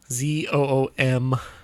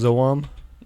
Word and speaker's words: Zoom: It's a Zoom. Oh. Zoom. Are you sure it's not pronounced Zoam? I'm pretty sure.